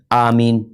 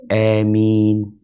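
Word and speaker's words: آمين: di Hamzah Amin Iya jadi bacaan imalah itu kan antara fathah sama ya ya e jadi baca Amin ini terus nulisnya Seperti apa mungkin iya tulisnya bukan a ya bacanya bukan a karena disebutkan ini Bil imalah dengan mad jadi di imala tapi dipanjangin ini seperti yang pertama yang pertama enggak pakai imalah yang ketiga ini pakai imalah Amin coba dibaca yang ketigain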